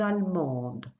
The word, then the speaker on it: allemande: You will also notice the first E after the double L.